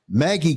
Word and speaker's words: Maggi: of food seasoning particularly how do you pronounce it Maggie cubes it's m a GGI Maggie cubes as a butt enhancement